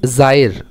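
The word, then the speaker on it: Zaire: अलग अलग प्रोनाउंसिएशन है इस कंट्री के. ये जो वर्ड है, जायर भी बोल सकते हैं, जेयर भी बोल सकते हैं. ठीक है. मेनली लेकिन इसका रियल प्रोनाउंसिएशन क्या है? जायर.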